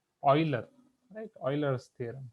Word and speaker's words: Euler: यूलर्स ने definitely यूलर्स, यहाँ पे मैंने आपको प्रोनाउंसिएशन भी बोला था कि फॉरेन कंट्रीज में जनरली इनको बोला जाता है ऑयलर, राइट?